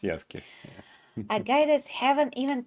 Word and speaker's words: Yasuke: Yasuke, yes, it's Yasuke, pronounced Yasuke.